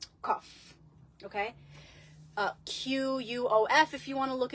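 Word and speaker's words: קוף: now the Ally of the week is the cough cough okay uh qof if you want to look it up or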